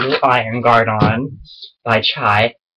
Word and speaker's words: chai: Iron Guard on by chai do not say chi cuz it's pronounced chai you need to you